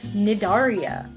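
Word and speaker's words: Cnidaria: news jellyfish come from the phylum nedaria spelled with silent sea and animals in this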